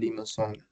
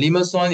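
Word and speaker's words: limaçon: Okay, Limassol. Okay, Limassol is a French pronunciation. That's why this is a French word. So this is a French word for snail.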